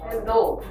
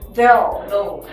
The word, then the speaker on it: though: Though. Though. Be careful with the TH. If you mispronounce TH, the possibility of mispronouncing like S is really big. So you have to be careful. Though.